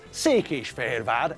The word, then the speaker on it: Székesfehérvár: We know that Székesfehérvár is pronounced as Székesfehérvár, and it's not pronounced as Székesfehérvár or Székesfehérvár or Székesfehérvár or Székesfehérvár.